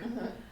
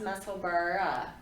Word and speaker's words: Musselburgh: You know, because Is it like Edinburgh is spelled Burgh. So I think that there's supposed to be an H on the end of it in pronunciation, but it would make a super cute hat, Musselburgh hat.